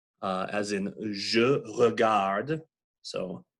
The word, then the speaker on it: regarde: Also, if there is an unaccented E at the end of a word, that is also the schwa, typically unpronounced, unvoiced, mute in French. So je regarde, you don't pronounce that